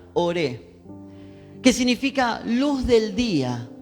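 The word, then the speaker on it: אור: él está hablando de la palabra hebrea por la palabra de veras se pronuncia ore que significa luz del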